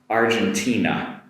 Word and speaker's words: Argentina: Next up uh the vowel sounds at the end here but not so in in Katakana. Argentina Argentina Argentina.